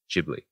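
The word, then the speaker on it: Ghibli: Miyazaki and the works of his studio studio jibli which I just finally learned how to pronounce and I'd love to talk to you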